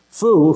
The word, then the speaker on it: feu: The French word for fire is feu, F-E-U. I can't say it right, but it's foo for Americans.